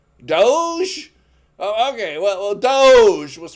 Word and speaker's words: Doge: how do you how do you say it doggy Doge oh okay well Doge was worth a thousand